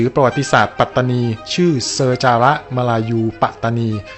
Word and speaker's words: ปัตตานี: ลง ความ เห็น ว่า คำ ภาษา อังกฤษ ที่ เขียน ว่า p a t a n i เนี่ย ควร จะ ต้อง ออก เสียง แล้ว ก็ เขียน ใน รูป แบบ ภาษา ไทย หรือ ว่า ปัตตานี ไม่ ใช่ ปาตานี ซึ่ง คำ ว่า ปลา